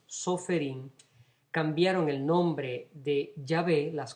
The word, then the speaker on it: Yahvé: nombre santo, el tetragrama, las 4 consonantes que nosotros pronunciamos como Yahvé, ellos no podían pronunciar el nombre de Dios, obviamente.